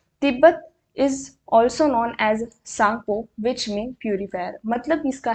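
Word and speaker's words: Tsangpo: के नेम के अंदर, क्योंकि टी साइलेंट है और सांगपो यहाँ पे है, तो टी का ध्यान रखना ज़रूरी है।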